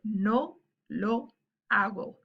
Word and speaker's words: hago: Then you would say, no lo hago. Remember that the H is silent.